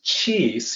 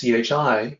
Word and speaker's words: qi: So qi is sometimes written as qi. That's the new romanization system. And in the older system, it's qi, chi. Either way, it's pronounced the same, qi.